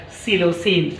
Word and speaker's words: psilocin: And also we can write one more medicine, this is called psilocin. Here P is silent letter, psilocin.